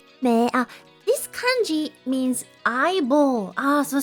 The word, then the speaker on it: 目: So, it depends on the kanji character, different meaning, but same pronunciation. Me. Me.